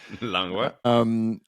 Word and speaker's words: Langlois: All right, I'm here with Langlois. Is that the proper pronunciation? Oui. Langlois.